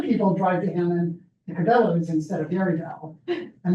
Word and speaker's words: Cabela's: you pass a place, I'm not going to pronounce this correctly, Cabellos. For those of you who are hunters, you might know the correct. So Cabellos is one of the big, what is it? Cabela's, is that how you pronounce it?